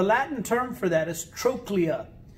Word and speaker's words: trochlea: of thread the latin term for that is trochlea it's spelled t-r-o-c-h-e-l-e-a t-r-o-c-h-l-e-a but it's pronounced trochlea it looks like trochlea but it's